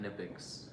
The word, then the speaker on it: Knipex: hearing me say that, you probably think that I don't know how to pronounce the company name correctly, but that is how they say it, Knipex.